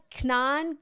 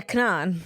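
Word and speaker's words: K'naan: I had just been on tour with an artist from Canada named How do you pronounce this guy? Kanan Kanan. He sings Waving Flag. KN A. Yeah, Kanan.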